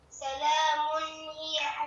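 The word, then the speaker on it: سَلَامٌ هِيَ: On prononce clairement. Maintenant, lis-moi le mot, là, en prononçant clairement. Ça donne quoi? Salamun hiya.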